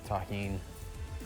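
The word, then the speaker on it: tahini: Shout out to everybody that knows the deliciousness of taheen. That's how you pronounce this.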